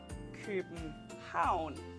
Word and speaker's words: København: And then we have town, which is stressed. So we say København.